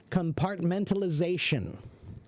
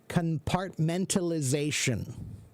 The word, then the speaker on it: compartmentalization: That's the way to say that. I can't imagine what would be the other way. I'm trying to imagine any other stressed accent that would make sense. No, compartmentalization. That's how you say it.